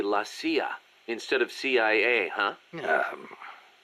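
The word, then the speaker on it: la CIA: Around here they say lasa instead of CIA. Huh? Um, nothing strange about it. That's how it's pronounced when you read it in Spanish.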